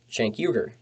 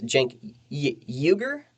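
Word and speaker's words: Cenk Uygur: the young turks with shank yuger i think it's jank juger i think it's your i don't like mispronouncing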